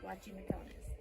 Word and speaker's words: Guachimontones: you spell it um it's actually pronounced with a W watching mcon and as you will